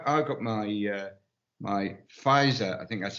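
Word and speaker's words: Pfizer: the day i've i got my uh my fisa i think that's how you say it vaccine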